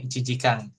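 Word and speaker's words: 一時間: I cijikang.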